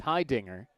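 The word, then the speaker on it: Heidinger: two hi dinger t-a-e-d hi dinger spelled hey dinger but pronounced high dinger 2-2 fisted fly ball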